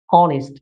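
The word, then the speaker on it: honest: এখানে H silent সঠিক উচ্চারণটি হলো অনেস্ট।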